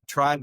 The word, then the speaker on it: Trybe: Tribe is spelled incorrectly. T R Y.